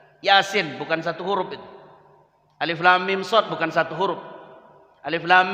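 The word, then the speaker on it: المص: Dibuka awal surat Al-A'raf. Alamaso. Padahal bacanya alif lam mim shad.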